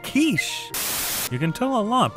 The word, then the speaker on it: quiche: It's pronounced quiche.